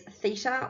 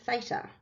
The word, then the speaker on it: theta: through the middle, and you pronounce it as theta, or if you're more American, theta.